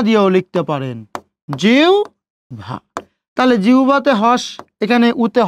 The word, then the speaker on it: জিহ্বা: ওকে, এখন দেখেন রস্বই বা দীর্ঘের পরে যদি হয় বা যদি থাকে, তখন আমরা এই হয়বর জায়গায় উচ্চারণ করব উভ। কি উচ্চারণ করব? উভ। ওকে, উ এবং ভ। তাহলে জড়স্বকারে জি। ওকে, হয়ব আছে, হয়ব জায়গায় কি দিবেন? উ এবং ভ দিচ্ছেন, উ এবং ভ, জিহ্বা।